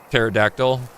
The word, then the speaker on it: pterodactyl: I even stopped pronouncing the P in pterodactyl. I I say the P just for funsies of it.